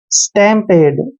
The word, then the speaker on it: stampede: डे करेंगे, यानी कि स्टैम्पेड। और ई का उच्चारण हमने नहीं करना है। स्टैम्पेड।